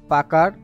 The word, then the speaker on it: Pucker: তো আজকের ক্লাসে আমরা মূলত পাকার অ্যান্ড ব্লট টুলস নিয়ে কথা বলবো। তো এই টুলসটাকে অনেকে পুকারও বলে। তো আপনি যেভাবে উচ্চারণ করেন এর আউটপুট কিন্তু একই।